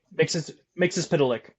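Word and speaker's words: Mxyzptlk: I can't pronounce this. Mix Pilick.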